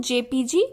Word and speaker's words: JPEG: Okay, इसको हम लोग जेपीजी प्रोनाउंस करते हैं, और ये एक ऐसा फाइल फॉर्मेट है जो कि हम लोग, आप देख सकते हो, इमेजेस के लिए है.